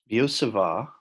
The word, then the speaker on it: Biot-Savart: start with here is the law of biot-savart biot-savart the TS island is fringe you don't say at the letters T's are both silent so it's not biot-savart Thomas so it's biot-savart and this law will